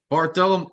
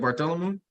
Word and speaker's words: Bartholomew: zabidi wisdom or judgment John love Philip power barthelium Bartholomew how do you say that Bartholomew yeah Bartholomew J Simpson that's Mark yeah thank